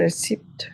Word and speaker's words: receipt: Receipt. It, Receipt. it, re, Receipt. it, Receipt. Receipt. receipt. Receipt. Sin que suene la P. La P no la Receipt. pronuncian, es receipt.